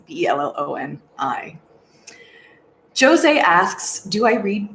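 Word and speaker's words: Bellion: John Baloney, I think is how you say his name. It's Belloni.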